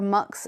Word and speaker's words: Mx: Kids are being encouraged to use phrases like they or them, and even the title MX, pronounced mix or mux, instead of Miss or Sir.